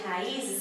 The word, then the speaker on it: raízes: No caso de raízes, há o acento por haver o I tônico, formando hiato, sozinho na sílaba.